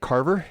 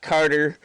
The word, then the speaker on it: Carver: Is that how you say it? Carver? Yeah, it is. It's not Carter or Mr. Carver.